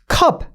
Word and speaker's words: cup: 얘가 우리나라 말 어입니다. 얘는 그냥 우리나라 말 어라고 보면 되거든요. 해서 우리가 이거 cup. 그쵸? 그냥 어예요. 그냥 이건 어예요.